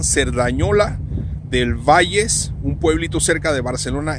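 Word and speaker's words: Cerdanyola del Vallès: Se pronuncia en catalán Cerdañola del Valles, un pueblito cerca de Barcelona, España.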